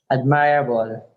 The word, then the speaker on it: admirable: Don't say my. Mra. Admirable. Admirable. Mra. Admirable. Yeah, don't say mira. Mra. Like bruh. Mira. Yeah. Admirable. Don't say mira. That's two Okay. syllables. Admirable. Just say Okay. mra. Okay. One syllable.